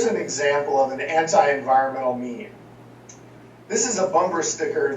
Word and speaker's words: meme: biologist Richard Dawkins coined a new term mean a word that he intentionally fashioned to rhyme with Gene Dawkins defines a meme